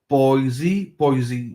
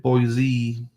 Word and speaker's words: Boise: Boise, they'll know you're not from there if you pronounce it Boise. From there, if you pronounce it Boise, found that out.